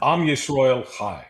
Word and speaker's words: Am Yisrael Chai: Am Yisrael Chai.